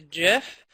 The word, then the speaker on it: GIF: talking about today graphics interchange format that's the jiff and that is the official pronunciation but you could feel free to pronounce